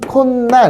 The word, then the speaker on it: 콧날: 그러면 발음하면 콧날 해서 니은이 하나 첨가되죠. 없던 니은이 하나 생겼잖아, 이렇게.